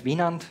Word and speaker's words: Winand: I pronounce my name as Wienand. You know, that's from the German pronunciation.